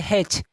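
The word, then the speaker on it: hatch: हो तो टी को हम कर देंगे क्या, साइलेंट। जैसे आपका फॉर एग्जांपल पहला क्या है यहाँ पे देखिए, हेच।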